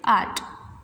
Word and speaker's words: hour: It means जैसे कि for example मैंने यहाँ एक स्पेलिंग लिखी HOUR, इसको इसमें H तो है बट ये H क्या है, साइलेंट है. हम इसका सिर्फ इतना प्रोनाउंसिएशन पढ़ेंगे, आर्ट.